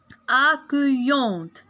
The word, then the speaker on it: accueillante: alors a que وعندنا اي دو زل il se prononce y. a que y avec le on. déjà هضرنا عليها هنا كتقرا on. alors ملي غنجي نجمع لو مو غنقول a accueillante. accueillante. accueillante حيت اي دو زل كتنطق ي مع on yon t e t.